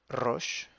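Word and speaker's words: ראש: avec le numéro 1 le numéro 1 c'est la tête roche roche si vous arrivez pas à à rouler le r donc roche c'est la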